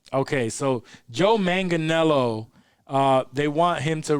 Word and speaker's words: Manganiello: his name joe manchinello i think it's manganello i said man janello last time and dave corrected me okay so joe manganiello uh they want him